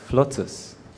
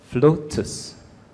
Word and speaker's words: FLOTUS: your word is flotus can i please have the definition of the